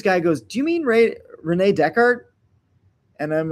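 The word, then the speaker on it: René Descartes: So I read multiple books by Renee Descartez and I was talking about Renee Descartez at a party and at a certain point this guy goes, "Do you mean Renee Decart?"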